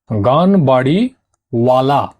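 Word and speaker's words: Ganweriwala: তো লিখে নাও, গানবাড়ি বালা, ঠিক আছে, অথবা গানবাড়ি ওয়ালা, ও অন্তস্থ আকার লয়াকার ওয়ালা।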